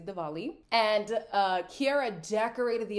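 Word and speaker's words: Diwali: It's written Dwali, but I heard them pronounce it as Dvali. So I'm going to say Dvali.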